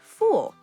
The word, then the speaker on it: fool: But Sam, listen, that sounds like a vowel pronunciation error. Full versus fool. It's a classic trap.